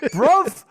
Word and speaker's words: bruv: Yeah, like bruv rhymes with love.